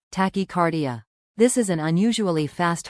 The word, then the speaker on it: tachycardia: Some of the symptoms you should tell your healthcare provider about include chest pain, also known as angina, tachycardia, pronounced tachycardia.